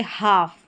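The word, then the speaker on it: half: एल और एफ साथ में आएगा तो इसको फ जैसे हाफ यहां पर एल जो रहता है वो साइलेंट रहता है।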